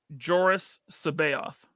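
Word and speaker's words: Joruus C'baoth: But then they have, and everyone pronounces his name differently. I have always said Joris Sabaoth, who in the book, Alex Sanchez, is a cloned Jedi.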